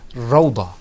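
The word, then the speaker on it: روضة: Because remember, if it had a dhamma on it, it wouldn't say ra. It would say ru. Okay, but this word is pronounced rawda.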